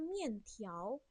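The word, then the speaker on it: 面条: Sebenarnya ini bacanya mian tiao.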